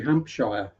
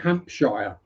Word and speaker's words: Hampshire: You don't call it New Hampshire, but I've I've heard Americans in videos call it Hampshshire. You know, it's Hampshire. You've got a Hampshire. Why are you adding letters that don't need to be pronounced?